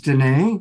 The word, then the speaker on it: Danae: Also coming back is Danae, which reminds me that it rhymes with Renee.